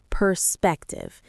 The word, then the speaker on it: perspective: The stress is on the second syllable of perspective.